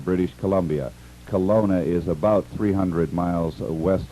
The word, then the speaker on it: Kelowna: contact uh you're very fine business here in Colona British Colombia Colona is about 300 miles west of Vancouver and